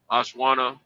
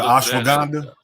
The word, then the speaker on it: ashwagandha: I'm gonna go to Sam's and get me some ashwanda and maca. Is that how you say it? Yeah, ashwagandha.